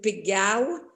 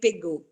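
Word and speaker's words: Pégau: us it's provencal and we pronounce the o we pronounce it it's why uh domendo pigao when we want to speak provencal and when we want to speak french we say pegu so we we created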